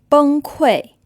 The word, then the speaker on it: 崩溃: 太贵了崩溃 So here it's pronounced kui, and this word means to collapse.